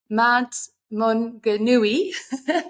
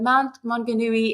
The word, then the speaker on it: Mount Maunganui: He lives in New Zealand, and I'm going to forget to pronounce that now, Brad. Mount Maunganui. Perfect. Please help me if that's correct or not. Absolutely perfect. Well done. Mount Maunganui in New Zealand.